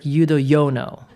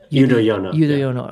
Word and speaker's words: Yudhoyono: Or is it it's like Yudhoyono. Yudhoyono.